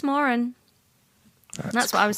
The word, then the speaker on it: Moran: pronunciation yeah that's true does he really not pronounce it Moran no I think it's Moren that's what I was